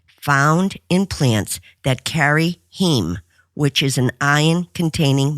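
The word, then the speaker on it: heme: is a protein found in plants that carry heem, which is an iron containing molecule. That's spelled H E M E. Impossible Foods say that it is the heem that gives Impossible Meats their meaty flavor, if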